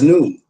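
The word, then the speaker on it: نون: That's why I use the Arabic letter none pronounced as noon.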